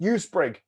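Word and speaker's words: EuSpRIG: It's pronounced USPRIG.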